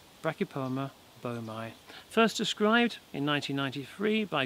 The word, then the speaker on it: boehmei: the rocky palma beaumai yes you heard me correctly i said beaumai normally i'd say baini however uh i you know i got that from hearing other youtubers pronounce it that way i also uh